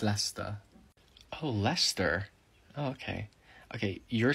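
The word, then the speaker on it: Leicester: um i study here lycester it's pronounced lester oh lester okay okay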